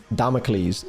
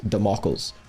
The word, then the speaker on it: Damocles: Um, I've been I was grilled on the metal round the podcast for basically pronouncing Damocles Democles.